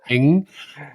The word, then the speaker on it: Ng: So I think I heard you say Eng, and the person I talk about in this case is Andrew.